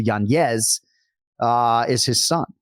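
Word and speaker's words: Yanez: the impetus for him changing his name to the rightful pronunciation from janz to yanes uh is his son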